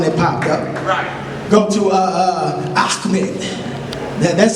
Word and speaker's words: Ahmed: Go to Ahmed. That's how you just pronounce that.